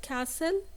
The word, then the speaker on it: castle: the world C C we have the word castle and the T here is silent we have the word